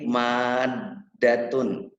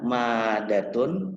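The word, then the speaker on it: مَادَّةٌ: Seperti lagi maddatun. Maddatun. Harus ada tekanan sedikit kalau tasdid itu. Kalaunya madatun berarti tidak ada tasdid.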